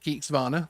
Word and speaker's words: Geeksvana: So do tag at Geeksvana.